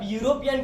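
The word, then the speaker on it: Europe: यूरोप मतलब वाई से, य से स्टार्ट होता है, तो ये कंडीशन के अंदर भी आप उसके आगे ए आर्टिकल्स यूज कर सकते हो।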